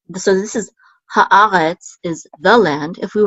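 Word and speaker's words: הָאָרֶץ: Haaretz, and we have the accent mark on the syllable a, haaretz.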